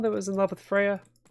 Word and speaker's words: Freya: was in love with Freya or Fria I guess it's how you pronounce it this is how I pronounce it I also think it's Freya let's be wary of